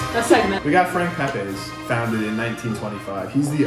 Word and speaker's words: Pepe: We got Frank Pepe, or Pepe. I say Pepe. However you want to pronounce it.